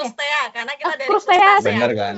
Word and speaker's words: Crustea: Bacanya gimana sih? Krasti kan Krustea karena kita dari benar kan karena kan pembilang dulu kita mikirnya ya kan dia cerita Kasti.